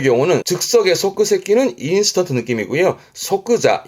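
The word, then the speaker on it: 即座: 그러면 좌석이 되겠는데 좌석에 좌자를 썼으니까 발음은 소끄자.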